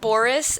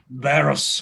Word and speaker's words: Barros: He pulls, was it Boris? Is that how you pronounce it, Spencer? Barros. Barris, okay. He pulls you aside Like and says... barrel, but with an O.